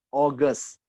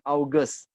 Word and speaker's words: August: Apple Mei Jun Jul oges Yahoo gas bukan August Ya kadang-kadang saya suka mendengar orang bilang Hughes Now it's our guest